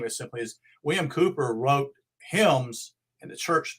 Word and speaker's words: Cowper: Here's a quote from Cooper. His name is spelled Cowper.